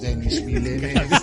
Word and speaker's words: Denis Villeneuve: Enemy, lo más extraño visto hasta hoy es canadiense y no es gracioso, es Denis Villeneuve. Denis Villeneuve. Adelante todos. Denis Villeneuve. No es gracioso, lo sé, pero así es como es. ¡Hey! Denis Villeneuve. Qué grande. Pronuncia la S, Dani, ¿eh?